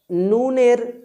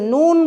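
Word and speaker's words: نون: সহকারে আপনাকে জানতে হবে তাহলে নুন বর্ণটি উচ্চারিত হয় জিহবার কিনারা বা জিহবার আগা এবং তার বরাবর উপরের মাড়ির সাথে মিলিত হয়ে নাকের বাঁশি থেকে গুন্নাহের মত উচ্চারণ করতে হয় নুনকে আশা করি বিষয়টি বুঝতে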